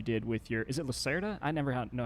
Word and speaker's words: Lacerda: Is it Lacerda? I never know how to say this. Lacerda, yes.